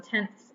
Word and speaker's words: tenths: it's so important to make sure we are pronouncing it correctly on tenths and hundredths that ths at the end and one more I